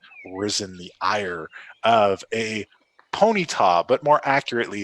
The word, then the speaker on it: Ponyta: Will the warlocks manage to catch Ponita and add it to their collection? Let's find out. It's Ponyta. You're emphasizing all of the wrong syllables.